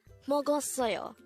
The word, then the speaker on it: 먹었어요: in the past again mogo soyo means eight and this is the pastas of eat or mogoyo how do we write mogul soyo in hango this is composed of four syllables let's start with the